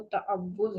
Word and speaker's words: تعوذ: تو تعوذ جو ہے عام طور پر ہم اس کو تعوذ بولتے ہیں. تعوذ جو ہے وہ اس کا صحیح تلفظ جو ہے وہ تعوذ ہے. تعوذ، تا کے اوپر زبر ہوگی، عین کے اوپر زبر ہوگی، واو کے اوپر تشدید نظر آ رہی ہے، اس کے اوپر پیش ہوگی، اور لال ساکن ہوگی.